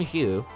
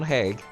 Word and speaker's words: Haig: ours name of John Haig not John Hugh John Hague I'm not trying to